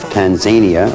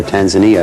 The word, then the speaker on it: Tanzania: It was for the country of Tanzania, or Tanzania, I've heard it pronounced both ways.